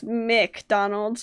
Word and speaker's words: McDonald's: it like no okay people will spell it mac donald's and i'm like it's mick donald's like yeah and like